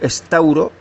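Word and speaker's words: σταυρόω: Es la G4717, que se pronuncia en griego estauro, y significa al español empalar, extinguir, subyugar y crucificar.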